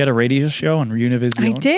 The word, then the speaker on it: Univision: You had a radio show on Univision. I did. Am I saying it right? Univision. Univision. Can I say Univision?